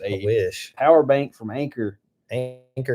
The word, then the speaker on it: Anker: Anchor is spelled Anker, kind of like Acorn, but different.